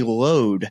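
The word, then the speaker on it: Louth: look at it and then uh County County load is how they the caddies pronounce it to me but I was count pronouncing it loath so there's there's an Irish version an American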